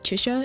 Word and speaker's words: Chixia: Did I say Chisa last time? I meant like Chisha. Is that how you say her name?